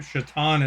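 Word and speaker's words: Šatan: His name was Satan or Shatan is how it's pronounced but it was spelled S A T A N.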